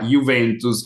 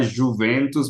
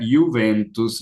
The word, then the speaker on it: Juventus: Então, talvez para mim a maior rival seja ainda a Juventus. Aqui, prestem atenção, brasileiros, não é Juventus, mas é Juventus. Juventus. a Y, a J, né, se pronuncia como uma I simples.